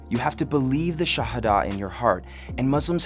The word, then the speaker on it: Shahada: That first pillar, the Shahada, sometimes pronounced Shahada, is basically the entire teaching of Islam boiled down into one sentence.